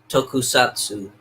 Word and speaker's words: Tokusatsu: I can't pronounce it right. Yeah, it's Tokusatsu.